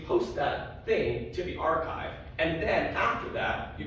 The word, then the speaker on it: arXiv: Because in math, we have this special thing called the archive, and it's spelled like this, with the Greek letter chi in the middle, because mathematicians, you see, are all very pretentious.